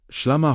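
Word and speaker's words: ܫܠܡܐ: As you exhale, gently speak SHLAMA, pronounced SHLAMA, wholeness, completeness, harmony with God.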